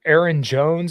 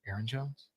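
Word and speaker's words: Ayron Jones: out give give me like a genre uh Aaron Jones is another guy that I've been listening to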